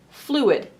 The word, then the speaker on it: fluid: Now let's take this word, fluid. It has two syllables, flu-id. We're going to divide it between the vowels. And now this syllable here is an open syllable. There's nothing closing off this vowel. So this vowel says its name, its long sound, oo or u. In this case, oo, flew.